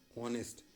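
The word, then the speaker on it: honest: रहा है इसलिए पुर वही ऑनेस्ट यहां पर हमारा उ का साउंड आता है इसलिए हम एन का इस्तेमाल करें य नेस्ट में हमारे पास में जो दिख रहा है यह साइलेंट होता है इसी कंट्रास्ट में हमने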